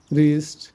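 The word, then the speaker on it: wrist: ডব এর পরে আর থাকলে সেসব শব্দের ক্ষেত্রে ডবলি উচ্চারিত হয় না যেমন রং রিস্ট রাইট রেজ র্যাপ রি রেস্ট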